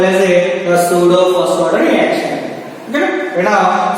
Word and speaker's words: pseudo: Next we go for the pseudo first order reaction. What's it? Pseudo. The P is a silent. P is silent.